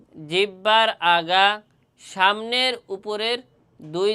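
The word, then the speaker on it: ظ: কিন্তু এই জ হরফটি উচ্চারণের সময় একটু শক্ত হবে। জ এভাবে একটু শক্ত করে পড়তে হবে। জ কিন্তু উচ্চারণের স্থান একই জায়গা কিন্তু এই দুটোর ক্ষেত্রে একটু নরম ফা আর জালের ক্ষেত্রে একটু নরম আর জর ক্ষেত্রে একটু শক্ত করে পড়তে হবে আমরা মসকরি এবং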